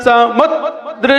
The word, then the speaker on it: समुद्र: वक्तुम गुणान् गुण समुद्र शशांक कांतान्। समुद्र संयुक्त अक्षर है ना, संयुक्त अक्षर पर ध्यान देना है, स्वराघात।